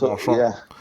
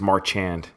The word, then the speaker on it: Marchand: No, it's pronounced Marchand. Yeah. You probably see it as Marchand.